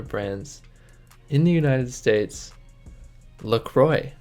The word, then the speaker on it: La Croix: in the United States look Roy apparently is how it's pronounced that's what they say on their website it's pronounced Lacroix which hurts my Canadian ears knowing that the French word for like Holy Cross is neck cloth so we're gonna go with Lacroix just because that's how they say it's pronounced I don't know if